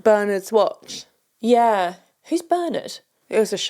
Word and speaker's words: Bernard: I like it when it's pronounced Bernard.